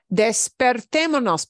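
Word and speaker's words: despertémonos: uh let's get up early becomes desperate monos despertemonos because desperate is too hard with that S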